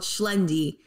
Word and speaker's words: Xlendi: He speaks it fluently, and in the Maltese language, the letter X is pronounced sh, sh. I just found that weird. Oh, dude. Oh, for real. What a wild weed. Yeah, so like there's a place called Schlendi.